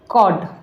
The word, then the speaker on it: code: And next है वेक, अब जैसे यहाँ लिखा है CODE, तो यहाँ पे भी ई को आपको समझ आ ही रहा होगा कि मैं आपको क्या बताना चाहती हूँ, कि यहाँ जो ई है हमारा वो साइलेंट है, एंड जो भी हमारा जो जैसे C लेटर है उसके बाद जो वर्ड है जैसे कि O है, तो यहाँ ओ का ओ की ही साउंड आएगी, जैसे कॉड, कॉड।